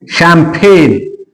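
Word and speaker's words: champagne: तो ए क्या करोगे आप ये लो सबब शैंपेन अब मैं तो जी को तो साउंड दिया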